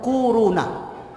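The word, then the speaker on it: كورونا: wow wow nah Hai korona bacanya tuh kuruna Ah ini bukan Tibet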